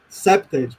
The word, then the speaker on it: CPTED: Inclusive, eu percebo que vocês pronunciam no inglês septed, como deve ser, duas sílabas, mas para poder facilitar